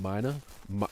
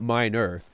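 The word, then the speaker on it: mynah: He was a wild miner. Well, I don't know how you say it. Miner? Not minor. M-Y-N-A-H. Miner.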